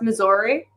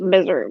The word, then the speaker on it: Missouri: does it actually pronounce Missouri Missouri that's me I for like some people but misery misery some people from Missouri call it misery as a joke but I feel like